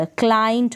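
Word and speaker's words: client: जैसे कि है क्ल, सी एल को क्ल पढ़ देंगे, और आई यहाँ पर आई ई को आई, एन को आधे न के रूप में, और टी को ट, क्लाइंट हो गया।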